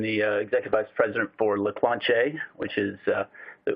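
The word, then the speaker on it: Leclanché: urban I am the executive ice president for Lacroix che which is the correct pronunciation for our company located in in Dallas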